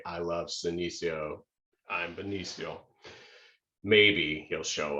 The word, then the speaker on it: Senecio: pointed out that actually Senecio rhymes with Benicio. And so we don't think that Benicio del Toro will be at the plant sale, but if he was, he would say, I love Senecio, I'm Benicio.